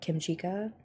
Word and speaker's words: Kim Chica: So there is like story to this, but one thing, this other streamer that I've been following lately, her name is Kim Chica, like kimchi, but Kim Chica.